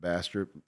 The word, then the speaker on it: Bastrop: A lot of people struggle to say it, but Bastrop is how you pronounce it.